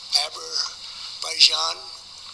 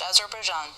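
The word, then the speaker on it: Azerbaijan: To think that we settled uh Abberaijan and Albania as an example, it was going on for years. Close. Sort of. It is pronounced Azar Bjan, sir.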